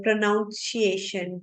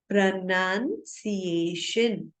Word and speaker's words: pronunciation: हम अक्सर ऐसे बोलते हैं प्रोनाउंसिएशन प्रोनाउंसिएशन, कुछ अलग सा ही होता है. बहुत सारे जो लोग हैं नहीं बोल पाते. तो इसका जो करेक्ट प्रोनाउंसिएशन है वो है प्रोनाउंसिएशन.